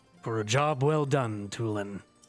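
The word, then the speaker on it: Tulin: a job well done toolin because my name isn't pronounced Talon wait what this moment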